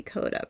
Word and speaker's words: Koda: so you can just call me Koda pronounce like Cody but with an A and I agree that